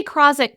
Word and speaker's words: Krawczyk: this, but meet Krozek. There, that's the Polish Krozek. Yeah, we say Krozek, but Polish people are like, you say your name wrong.